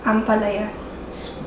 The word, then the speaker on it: ampalaya: Ampalaya. Pronounce it.